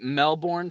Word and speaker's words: Melbourne: Isn't it Melbourne? It is Melbourne for Americans, but native Australians don't say ours, so it is Melbourne.